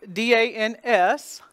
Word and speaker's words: dans: The D-A-N-S is pronounced dans. The D sound becomes the symbol, D. The en, the nasal vowel, is there because the spelling is A-N.